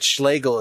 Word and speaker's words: Schlegel: time speaking of erotic people think that Schlagel is just a madeup name because it rhymes with Hegel but no it's a